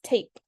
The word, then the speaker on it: tape: Same tap. Like I said before, we add the silent E, it becomes tape.